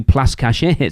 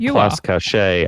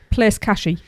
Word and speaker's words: Place Cachet: I did hear somebody call Place Cachet Place Catchy. Place Catchy.